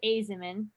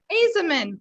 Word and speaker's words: Ajzenman: say your last name for me it's it's azimin azamin wonderful okay everybody out there in facebook land